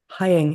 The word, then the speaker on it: Heying: Heying. It rhymes with flying.